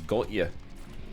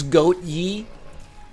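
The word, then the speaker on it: Gotye: the singers name is gold yet it's probably not pronounced like that it's goat ye Gautier pronounced like Kanye okay all I'm asking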